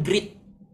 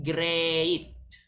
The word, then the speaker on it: great: Teman-teman, ini bukan great. Cara bacanya bukan great, tapi great.